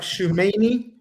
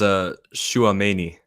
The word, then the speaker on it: Tchouaméni: It is Tchouaméni. It is not Tchouaméni.